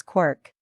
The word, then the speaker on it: quark: meaning for one thing the Cry of the gull was clearly intended to rhyme with Mark as well as bark and other such words I had to find an excuse to pronounce it as quirk but the book represents